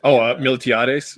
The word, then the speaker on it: Miltiades: Now, how do you say this name? Miltiades is how I would say it.